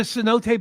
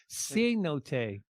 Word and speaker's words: cenote: There's a cenote banana? This is how Google says it's supposed to be pronounced. Cenote.